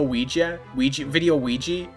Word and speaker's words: Ouija: A Luigi board. Isn't that how you say it? Luigi board? Is it Ouija board? It's Ouija board, right?